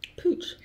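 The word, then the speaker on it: Puig: Richie underneath the same holding company which is pronounced pooch exhibition that was this real disconnect between this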